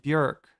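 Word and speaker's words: Björk: It's not Bork and Tom York. It's Tom York and Bjork. Uh it rhymes with jerk.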